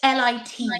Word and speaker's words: Lit: There's this company called Lit Cosmetics. And basically, I need to, like, be careful. How do you say the name? Lift or list? Lit. L-I-T. Sorry. Lit.